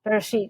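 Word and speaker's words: Bereshit: So the first episode of the web comic is titled Barath. Am I pronouncing that correctly? Barit.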